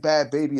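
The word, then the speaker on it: Bhad Bhabie: She wasn't like, to me, she wasn't like Bad Baby that went.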